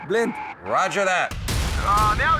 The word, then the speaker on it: Blind: It's pronounced blind. Roger that. Now it's a party. Young, cover the wing. I've got him! Smalling, don't let him through. They're everywhere! Blind, move forward. It's blind, like wind.